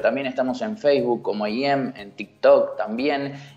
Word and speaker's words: Eiem: Sí, estoy en todas las redes sociales como EIM Oficial. Se escribe E y latina, E-M, así como suena, EIM Oficial.